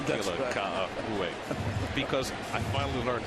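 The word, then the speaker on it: Ka'aihue: Well, I just like saying Kila Ka'ahu'e because I finally learned how to say it.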